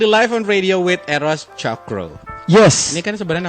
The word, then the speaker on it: Tjokro: Ini kan sebenarnya nama lo TJ, agak susah gue nyebutnya kalau misalnya Chokro atau Chokro. Chokro. Intinya itu ejaan lama sebenarnya. Iya sebenarnya kan, berarti baca C aja C, ya.